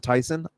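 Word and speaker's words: Thiessen: Tiffany Amber theas again everyone pronounces it Theos but I believe she pronounces it Tyson either way I think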